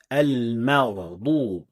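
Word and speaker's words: المغضوب: The third common mistake is mixing the ghain with the sound of qaf when coming in the middle of the speech, which is something to be noticed in a word like al-maghdub, which is mispronounced as al-maqdub.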